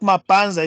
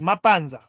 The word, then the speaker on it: Mapanza: It's not Mapanza, it's Mapanza. Oh, if you come from Southern Province, that's how you pronounce it.